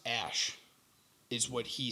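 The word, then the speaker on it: Æ: Yeah, it's pronounced Ash, is what he said.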